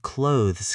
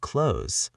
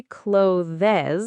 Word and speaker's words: clothes: The word clothes can be hard. The th is very soft and the s sounds like a z. It almost sounds like clothes. clothes. Do not say clothes with two syllables. It is just one syllable.